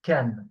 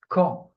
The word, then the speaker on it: quand: Actually, that's what I write K-A-N, but it's not pronounced can. Okay. No, it's not ka either. It's quand. So I didn't find how to write this on sound.